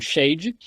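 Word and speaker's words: שד: em nome de El Shadai o todo-poderoso ah na verdade a palavra a palavra Hebraica shad sh a d alguns pronunciam Shade shad significa seio como o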